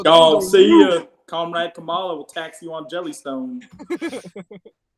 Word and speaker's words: Kamala: Comrade Kamala will tax you on Jellystone. Kamala. Why is that racist? It is spelled Kamala or Kamala.